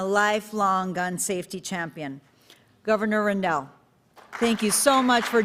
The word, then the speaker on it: Rendell: former governor ed rendell he told me it's not randall it's rindell it rhymes with bell so thank you governor